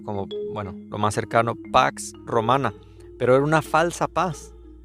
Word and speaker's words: pax romana: el en el en el griego antiguo se pronunciaba sino como Bueno lo más cercano pax romana pero era una falsa paz Es verdad no